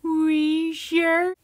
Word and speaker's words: Wheezer: actually professor snape share it's pronounced we sure that is where you